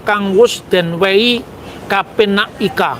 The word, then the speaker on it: ika: Iya ika. Kan saya membacanya dengan a ya karena ini masih masa transisi antara Jawa ee ee apa Jawa kuno akhir dengan zaman Islam.